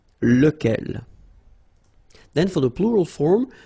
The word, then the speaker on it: lequel: Even if you've got this QU, okay, remember that this U phonetically doesn't exist, so lequel.